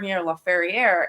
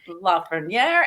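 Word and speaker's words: Lafrenière: They were two old, and they kept calling LaFerriere, and I was like, who is this?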